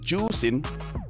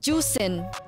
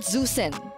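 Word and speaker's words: Juxin: pronounce zusin no no it's pronounced as juen juen so it's not zusen I can speak mandrin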